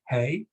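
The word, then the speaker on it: hej: some Scandinavian countries because that's the word for highs hey except except it's spelled h-e-j and of course if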